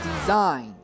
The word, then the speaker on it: Dezen: Oh, Dezen is pronounced as design. Design? Alright, well, I do apologize to Design. I've been calling you Dezen this entire time, but no, it is apparently Design.